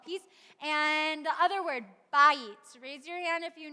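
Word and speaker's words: בית: Beit, that's really pretty much it. Shalom bayit, and beit is another way that we often, depending on the context, it is pronounced that way sometimes too.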